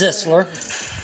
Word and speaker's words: Zeisler: It's Zisler. Zeisler. So it's a short I, not a long I.